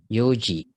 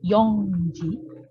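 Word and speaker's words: 四時: Oke, jam 4 Yoji. Yoji ya, dia tidak dilafalkan Yongji, tapi Yoji.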